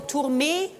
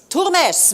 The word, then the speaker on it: Turmes: And finally, Claude Turmes or Tourmé? Turmes, member of the European Parliament, and they're part of the EU Green Party.